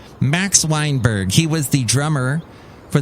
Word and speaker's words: Max Weinberg: lot of whack of wax mineberg wait i said that name wrong max weinberg he was the drummer